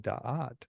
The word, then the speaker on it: Da'at: work, that represents, and it's called Da'at, and it's spelled Daath, and that you don't see it.